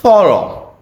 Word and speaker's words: thorough: So you see yeah gh pronounced in different ways in different situations quite weird right?